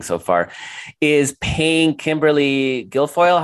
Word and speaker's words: Guilfoyle: away with everything so far, is paying Kimberly Guilfoyle.